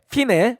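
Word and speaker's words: fine: 왜냐하면은 그 이태리 용어거든요. 그러니까 피날레, 피네. 네, 피네. 그러니까 아. 이태리 원래 알파벳의 기원이 그런 로마자의 기원이 있는 거니까 이태리 글자는 그냥 그대로 읽으면 돼요. 피네라고 읽으면 되거든요.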